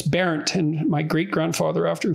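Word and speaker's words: Bernt: But because it was parodied as Berndt, because that's B-E-R-N-T, that's how it's spelled. And so it was an object of mockery, but so I didn't look into it much, but it's Barent, and my great grandfather,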